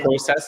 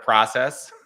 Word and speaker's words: process: I say process instead of process.